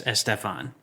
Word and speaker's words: Estefan: What about so it's like Gloria Estefan? Yes, Estefan. You put the stress on the penultimate syllable.